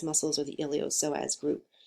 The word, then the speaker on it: iliopsoas: a group called the iliopsoas muscles or the iliopsoas group so the P is silent here separately they are the